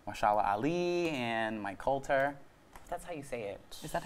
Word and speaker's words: Mike Colter: alongside time to actors like Muhammad Ali and Mike Colter that's how you say it yeah your father